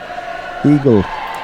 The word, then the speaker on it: Igel: Mr. Oh, well, it's Matthias. always capital letters, yeah. Eagle. Eagle? Eagle. Yep. It almost looked like an acronym, just being three Shots letters. or O's. IJL. Nah, Eagle.